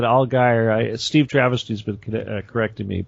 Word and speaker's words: Allgire: pronounced your name properly is that right al guy oh guy i'll get her yeah oh guy okay i want to say algiere but all guy steve travesty's been correcting